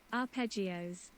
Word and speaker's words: arpeggios: do you pronounce this word what pronounce pronounce pronounce arpeggios arpeggios cool it ended rather suddenly the soft